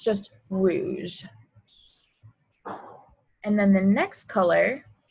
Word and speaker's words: rouge: word for red is whoosh there we go rouge this one's pretty easy easy there's not many there's no like strange french pronunciation sounds it's pretty simple it's just rouge and then the next color is orange and